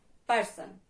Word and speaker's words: person: If there is two syllable in a word, like person. Repeat with me, person. Here we can see two vowel sound, person. Here we can see two syllable, and the first one is stressed.